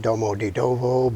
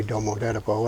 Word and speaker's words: Domodedovo: a city called Domodedovo I pronounced that Domodedovo but it's actually don't move that ago and it's about 25